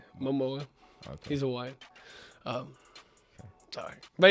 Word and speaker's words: Momoa: Momoa.